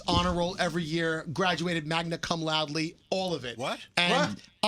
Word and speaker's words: magna cum laude: roll every year, graduated magna cum laude, all of it. What? And I got I don't think that's how it's pronounced. Loudy. Magna cum. Magna cum laude.